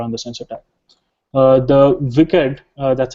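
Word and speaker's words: WICED: pressure sensor Etc on the sensor tab the wicked that's how it's pronounced uh is from broadcom and it consists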